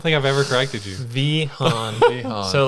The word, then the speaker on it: Vehaun: Yeah, so it depends on which country you're in. Where does it come from? I have no idea. It's Vehaun. Vehaun.